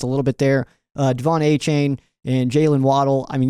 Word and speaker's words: Achane: Devon Achane and Jalen Waddle.